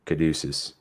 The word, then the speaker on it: Caduceus: Yo, like, Caduceus, or how's it pronounced? Caduceus.